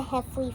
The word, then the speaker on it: Heffley: named greg heffley so they're known or pronounced as the hefley family so this is greg